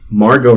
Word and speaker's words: Margot: trip R breny Spears Margo Robbie silent T and Amy Adams Noel